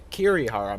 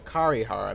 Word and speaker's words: Kirihara: One, it's the Kirihara Mansion, not the Karihara Mansion as I thought it was, and 2, I was trying to pronounce Kirihara all fancy with the kind of like slight R roll thing that like Japanese people do with their R's.